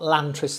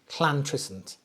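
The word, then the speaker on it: Llantrisant: So if you're not from Wales, you pronounce two L's like a Okay, don't spit on anybody. Right. So it's not Lantry, it's Clantresent.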